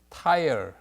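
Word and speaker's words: Tyre: 발음은 tire, 자동차 tire하고 발음이 같습니다.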